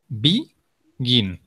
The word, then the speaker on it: begin: The stress is on the last syllable, okay? Begin.